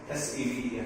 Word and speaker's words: seven: See the V sound. Underline the V. The V sound is, guys, the V sound is va. Va. Va. Seven. Right. V is not wa. W is wa.